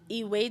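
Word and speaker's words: ewedu: could do your own research like a gucci is spelled e-g-u-s-i e-way do correct me if i'm wrong i think it's e-w-e-d-u and e-way you're right from spinach but it kind of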